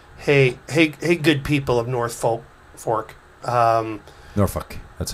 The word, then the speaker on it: Norfolk: Not only do they skip the L, but they turn the O into a U.